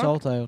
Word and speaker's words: Saltire: Saltire tour, yeah.